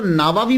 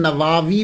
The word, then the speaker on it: نووی: گئی کہ امام نووی، اس کو نووی بھی بول سکتے ہیں، اور اس کا تلفظ پروننسیشن نواوی بھی ہے، یعنی وا کو لمبا بھی کریں گے، نواوی بھی اور نواوی، یہ دونوں جو ہیں وہ پڑھے جا سکتے ہیں۔ محرم الحرم میں آپ